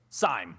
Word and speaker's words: Seim: Let me give you a uh it's Seam, right? Seam. Sim. Yeah, it's kind of pronounced in reverse, but close enough.